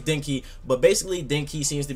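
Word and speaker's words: Denki: it I think it's dinki like I think that's directly how it's pronounced is a d e n k i if I'm not mistaken correct me if I'm wrong but I think it's dinky but basically dinky seems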